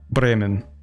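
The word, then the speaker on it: Bremen: As a German, I don't roll the R. Okay. Wow. How do you pronounce that? Like a breman. Like a breman. Breman. Not like a breman. Not like a breman. Breman. Same R as English.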